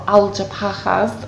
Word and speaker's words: Algeciras: Yeah, you're right on the edge of the Algeciras, or Algeciras as they pronounce in Spain, and again that is